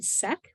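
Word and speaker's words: Cech: um there's a researcher whose name is uh Aaron SEC which is spelled c-e-c-h and she does a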